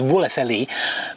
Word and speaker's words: Wolseley: Mumble it into woley I realize the correct pronunciation is wolle but that's a very slow thing to say